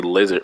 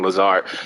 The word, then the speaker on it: Lazard: I always want to say Lizard for some reason when I say his name, Lazard.